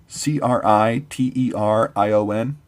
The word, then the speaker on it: criterion: it went unsaid Matt you know how to pronounce this word CRI ter IO n criterion correct correct no it's that criterion Matt